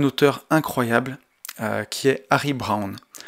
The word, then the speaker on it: Browne: Et aussi, et on en arrive au cœur de ce podcast, un auteur incroyable, qui est Harry Browne. Donc Brown, ça s'écrit B-R-O-W-N-E.